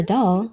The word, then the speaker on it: Dal: It just so happens that the fourth letter of the Hebrew alphabet, Dal, was represented by a door in its earliest form.